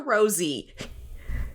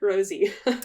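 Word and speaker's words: Rosé: Right, but like, if not to be nitpicky, but that accent above the E it would be pronounced Rose in French.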